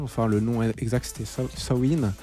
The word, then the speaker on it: Samhain: Enfin, le nom exact c'était Sawin. Sawin, c'est ça. Sawin. Voilà, c'est ça. Ça s'écrit Samin, S-A-M-H-I-N, mais ça se prononce Sawin.